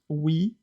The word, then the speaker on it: oui: Well, I like that one about the word we, because it's written like OUI and it's pronounced we, the only two letters that not in the world that not in the world.